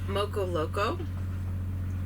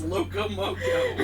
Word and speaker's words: loco moco: He made us moco loco. Did I say it right this time? No, restarted. It's loco moco.